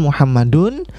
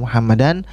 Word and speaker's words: Muhammadun: itu adalah lomba sehingga kita katakan Muhammadun dibacanya dengan dunia bukan dan bukan Din bukan muhammadan bukan Muhammadin kita katakan dzahaba Muhammadun